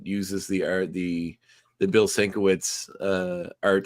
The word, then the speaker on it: Sienkiewicz: Okay, well, we get a nice little title sequence that uses the art, the Bill Sienkiewicz art Sienkiewicz.